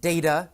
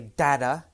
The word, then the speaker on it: data: Some people pronounce it data. Some people say data. Either is correct.